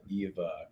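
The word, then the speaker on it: ʻiwa: But EVA is spelled IWA. Do you want to tell us the meaning behind EVA? EVA, like Viva La Eva.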